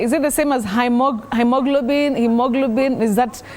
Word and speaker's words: hemoglobin: So you say he with a long high front sound, E. Hemoglobin.